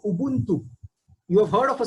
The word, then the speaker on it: Ubuntu: So in the African continent, there is a community called Ubuntu.